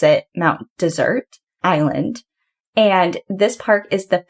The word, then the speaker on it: Mount Desert Island: And if you ever hear locals talking about it, they actually pronounce it Mount Desert Island.